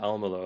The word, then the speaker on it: Almelo: of our customers over in the Netherlands, Gemeente Almelo, if I pronounced that right, Yeah, you did.